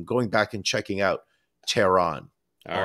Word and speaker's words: Tehran: It's not Tehran. It's Tehran.